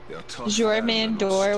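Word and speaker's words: Jörmungandr: Jormandor, whatever his name is. Jormungandr. Oh, that's way different than I thought it was. You don't pronounce the J's, you pronounce them like your.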